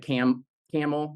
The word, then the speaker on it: Campbell: The same way we have a nearby town that we call Vienna, and not Vienna, or the camel, but it looks like Campbell in Yep. terms of how it's spelled, that kind of thing.